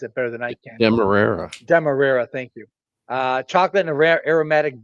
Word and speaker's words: Demerara: Randy probably could pronounce it better than I can. Demerara, thank you.